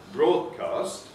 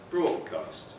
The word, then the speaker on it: broadcast: An example of assimilation would be if we have the word broadcast pronounced as broadcast. In this case, you can see that you have phoneme 1, D, is alveolar. Phoneme 2 here is velar. Why is it velar? Because it's been influenced by phoneme 3, which is the past, which is also velar.